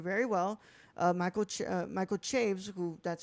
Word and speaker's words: Chaves: remember this interview very well uh Michael Michael Chaves who that's how he pronounces his name apparently to me when I read that name it's Chavez but Michael Chaves said that he had never heard the story